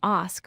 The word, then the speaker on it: ask: The correct pronunciation is ask with a long a sound, not ax as many people say.